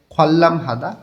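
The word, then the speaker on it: 관람하다: পাশে আছে খল্লাম হাদা পরিদর্শন করা, নিউনের পরে রিউল আছে, দুইটাই লয়লা উচ্চারণ করতে হবে।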